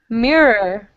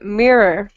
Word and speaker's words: mirror: is difficult too right anytime there's a double r or two RS with a vowel in between we have problems so again mirrorr Mirror Mirror Mirror and lure lure lure